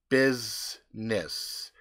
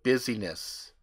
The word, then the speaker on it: business: pecan pie pecans pecans business I used to say busyness oh